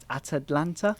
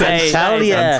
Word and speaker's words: Antalya: Atalanta? You can't even pronounce. No, not Atalanta. Not Atalanta. That is Antalya.